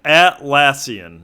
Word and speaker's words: Atlassian: tree atlassian sourc tree I think at this how you at or is it at yeah atlassian that's how you pronounced their name so they make a